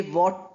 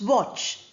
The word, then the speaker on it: watch: You have the word watch. We don't say watch. T is not pronounced here. W or ch. That is what we pronounce, watch.